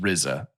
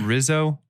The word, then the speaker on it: RZA: Real quick, it's pronounced RZA. I'm so old. Well, it's Wu-Tang, so I've been around for a minute. Are you sure it's not Rizzo, the rap?